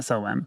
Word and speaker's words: SOM: Is that spelled like TSOM? No, just SOM. Oh. But all in It just capitals. sounded like you went SOM. No, just SOM. SOM. You can put a silent T in there if you want to. Yeah, the T is silent.